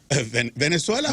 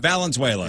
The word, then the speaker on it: Valenzuela: Venezuela. Venezuela. Did I not say it right? Should I just, can I just leave Valenzuela. Valenzuela.